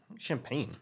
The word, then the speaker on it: champagne: chardonnay carbonate one no champagne champagne champagne that's the word I'm looking for shampoo champagne why it was CH why we pronounce it like sh right sham French I don't